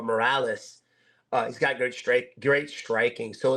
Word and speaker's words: Morales: Yeah, I don't want to say Marias, but Morales.